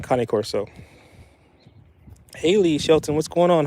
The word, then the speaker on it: Cane Corso: Some people pronounce it King Corso, but it's definitely Cane Corso.